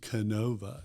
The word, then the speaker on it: Kenova: And, uh, you know, the pronunciation Kenova.